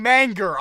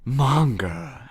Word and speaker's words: manga: the manga and one stop saying manger i will choke you if you say manger again in manga and yeah you said you said monger he said monger i can't do it